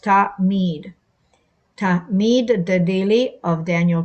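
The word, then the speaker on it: תמיד: Hebrew root pronounced mead, and as in tamid, or pronounced ta-mead.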